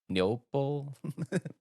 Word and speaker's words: Neople: it neople Neo neop neople we're going to go with that it's like people with an N yeah it's people with